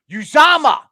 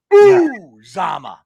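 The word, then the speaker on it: Uzomah: I'm like, it's Uzama. Uzama. Yeah. I'm like, oh my God. I know it's a hard name, but if you're gonna give him props, at least try to say his name right.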